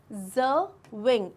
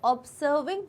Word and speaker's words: observing: इट्स observing, इट्स नॉट ऑब्जर्विंग, ज का pronunciation आता है observing, अगेन observing, ठीक है। सो it's like observing, okay.